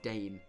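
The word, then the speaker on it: Dain: D-A-I-N. Someone let me know if I'm mispronouncing that. It's Dane.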